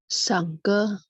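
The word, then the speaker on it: 上课: 上课， Oh, nada 44, Bu. Jadi, 上课. 上课， Ya, K-nya KH ya.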